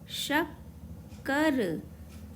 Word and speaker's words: शक्कर: हम लिखेंगे शक्कर शा आधा का पूरा का और रा शक्कर। यदि मैं यहाँ शक्कर को पूरा का के साथ लिखूंगी तो शक और कर हमें लिखना है शक्कर, इसीलिए आधा का बनाएंगे।